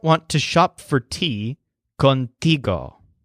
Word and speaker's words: contigo: to shop for tea contigo so the stress is on tea and this word means